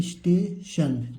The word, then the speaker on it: station: देखिए सा और टा के बीच में कोई सा भी मात्रा नहीं है, इसका मतलब यहाँ पर जो सा बनेगा आधा सा बनेगा, यानी इस हो गया। उसके बाद यहाँ पर क्या लिखा है? स्टेशन। TION के क्या पढ़ेंगे? स्टेशन।